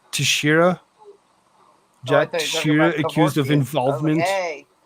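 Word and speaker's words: Teixeira: what about Jack uh I actually looked up the last I looked up the last name to actually be able to pronounce it right but it's it's uh Tashira you're accused of involvement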